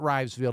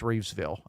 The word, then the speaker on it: Reevesville: It is not Rivesville, it's Reevesville.